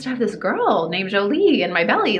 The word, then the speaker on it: Jolie: And the correct pronunciation is Jolie, so it's like a j, the J.